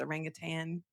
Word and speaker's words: orangutan: Like it's not a tang at the end, it's orangutan. And it just feels wrong to say it right.